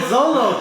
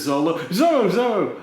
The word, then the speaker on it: Zoro: Yeah. Zolo. I grew up with the 4Kids, so like, I'm like, oh yeah, and then there's Zoro. I know how it's actually pronounced.